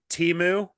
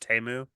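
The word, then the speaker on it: Temu: called it Teemu and then they put out a commercial and there it's pronounced TAMU oh so they made all of America for 90 seconds feel like complete idiots because they they came out two years after their company and said ah this is how you really say it yeah actually you're all saying it wrong so that's teu and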